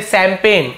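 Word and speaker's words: champagne: करते हैं सीच से शैंपेन को हम सी एच से स्टार्ट करते हैं सी एच ठीक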